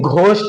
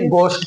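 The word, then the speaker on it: ghost: बहुत सारे लोग लेकिन घोष नहीं होता भूत है ना भूत को कहते हैं घोष नहीं बल्कि गोषट बोलेंगे घोष क्योंकि जी के बाद हमारा एच आया है तो एच साइलेंट हो जाएगा तो हम क्या पढ़ेंगे गोस्ट पढ़ेंगे ऐसे ही बहुत सारे लोग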